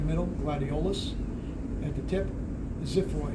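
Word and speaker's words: xiphoid: gladiolus at the tip Zid it's spelled with an X but it's pronounced like a z x y p h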